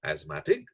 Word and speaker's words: asthmatic: he was asthmatic right we pronounce it asthma asthma asthma ting right and because he